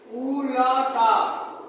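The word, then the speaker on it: उलटा: विलोमार्थक शब्द विलोम या विपरीत अथवा उल्टा उ लटा लिखेंगे उ लटा और बोलेंगे उल्टा ये प्रोनाउंसिएशन में और रिटन में फर्क होता है उल्टा अर्थ बताने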